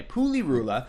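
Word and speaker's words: Pulirula: to pronounce that correctly it's ruler yeah it's poo or it spoolie ruler like PU Li are you la Puli Rula it was done it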